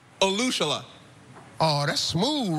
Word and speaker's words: Olusola: And last but not least, Kevin Olushela. Olushela. Oh, that's smooth right there. I like the correct way to say it.